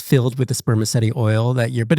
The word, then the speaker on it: spermaceti: Um, spermaceti oil.